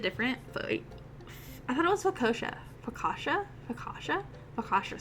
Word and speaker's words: focaccia: Focaccia.